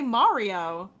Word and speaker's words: Mario: New York Mario is that how you really pronounce it wrong I say I get made fun of when I say Mario the correct way it is the correct it